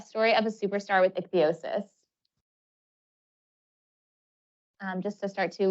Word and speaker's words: ichthyosis: of my skin because I have ichthyosis it's pronounced ichthyosis it's not a sunburn or just dry skin